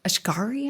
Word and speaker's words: Asghari: She talks about her tumultuous marriage to Sam Asghari, I think is how you pronounce it.